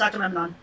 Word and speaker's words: Agamemnon: I'm so too mad to get it pronounced right. Akhenaten. No, it's Agamemnon.